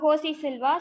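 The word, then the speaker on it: José Silva: In Russia, J is H. So he's Russian. So he's called as, although the name is starting with J, we are supposed to pronounce as Josie. So Josie Silva, so who written the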